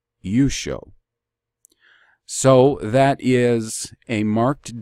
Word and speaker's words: Yeshua: case of Israel's Redeemer my Redeemer I pronounce it you show so that is a